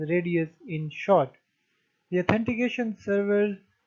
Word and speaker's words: RADIUS: dial in user service which is pronounced as radius in short the authentication